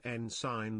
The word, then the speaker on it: ensign: It sends an N sign. The G is silent.